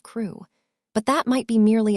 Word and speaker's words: Crewe: Madame Pascal pronounced it as if it were ko instead of crew.